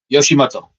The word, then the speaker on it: Yoshimoto: You you break it down as in Yoshi from Mario and then Moto as in Yukioto. Yoshimoto. And if you say it fast enough, it sounds Japanese.